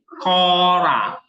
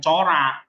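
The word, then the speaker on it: χώρα: enggak bisa basanya apa Kora Nah bukan cor itu transitasinya CH Tapi bacanya k jadi ko ra ada Hnya dikit K seperti chr Christ Jesus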